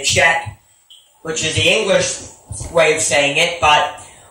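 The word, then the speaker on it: חית: But in the Hebrew, it's pronounced Chet. Chet. It's a hard H-E sound. The C-H is pronounced as a H, a hard H-E, a gargled H-E.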